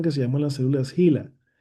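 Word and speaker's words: HeLa: se llaman las células Gila. Las Gila que se escribe en inglés H e L a Gela.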